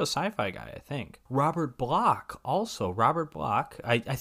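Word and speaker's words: Bloch: guy I think Robert block also Robert block I I believe it's pronounced black it's spelled like b-l-o-c-h so you'd think blotch but he also wrote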